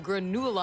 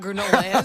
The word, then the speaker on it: Granula: It's not granola. It was called granula. I know what granola is.